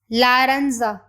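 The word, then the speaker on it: laranja: लारंजा लारंजा लारंजा means orange माहोम माहोम means brown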